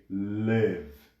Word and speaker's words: live: or a sound and with this verb the pronunciation is with the sound with the a sound so we say live live and why am I